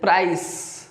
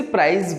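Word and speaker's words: price: Then प्राइस, प्राइज कई सारे से मिस प्रोनाउंस करते हैं, वो इसे प्राइज बोलते हैं, बट इट इज नॉट प्राइज, इट इज प्राइस, प्राइस।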